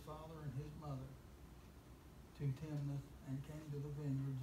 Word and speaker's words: Timnath: How's it pronounced? Timnath. Timnath. Okay.